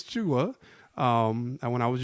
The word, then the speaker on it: Jua: it in and say Juan oh as if I don't know how to spell my name so um so I said no it's cha um and when I